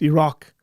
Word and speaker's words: Iraq: Like, you don't have to pronounce the I. Like, please. Iran. What? Why is that so difficult? Someone please out there explain this to me. Like, it's Iraq.